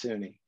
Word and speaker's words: SUNY: do you pronounce that how do you pronounce sunni well it's pronounced sunni then but he provided statewide leadership at suny